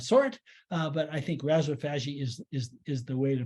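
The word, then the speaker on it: rhizophagy: is because it was originally pronounced by Australians who don't speak like New York people uh and so I say Razzo fagi they may say Reza Fiji or something of that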